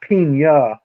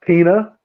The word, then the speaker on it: Pena: ago what are you saying Paul what Pina it's spelled p n a but it's not paa because he's not Spanish he's he's from a different origin so it's pronounced Pina yeah and um anyway so I did a